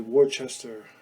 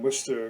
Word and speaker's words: Worcester: If you're not in Worcester, you pronounce it Worcester, but people here in Worcester call it Worcester, where we got over a foot of snow this last weekend.